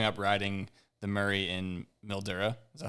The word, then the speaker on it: Mildura: Ollie is wondering how growing up riding the Murray in Mildura, is that how you say it, Mildura? Yep, Mildura.